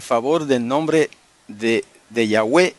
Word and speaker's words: Yahweh: base para entender que la forma antigua y correcta del nombre sagrado es Yahweh solamente que se puede pronunciar yahvé si usted quiere según el hebreo moderno pero el hebreo antiguo era yahwe hermanos no cierren los